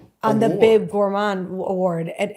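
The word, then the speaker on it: Gourmand: on the Bib Gourman award. And am I saying it right? Gourand. Yeah. Yeah, I believe that's right.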